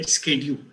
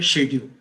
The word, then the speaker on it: schedule: Americans say schedule. Britishers say schedule.